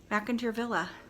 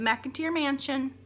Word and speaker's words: McIntyre Villa: Last but not least, McIntyre Villa. A place I've been several times. And when people pronounce it wrong, it grates on my last nerves. It's not the McIntyre Mansion. It's not the McIntyre Village.